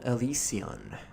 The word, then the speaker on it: Elysian: for illusion or something elusion that is what they call themselves elusion hello ian grimwood i'm elysian that's how it's spelled in the top left there and it's in